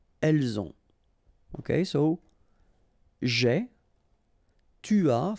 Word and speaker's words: as: Okay, so j'ai, tu as, final S not pronounced, il a, elle a,